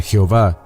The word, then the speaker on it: Jehová: la primera letra del Sagrado nombre de yot ebab e que se pronuncia Jehová que es Jesús en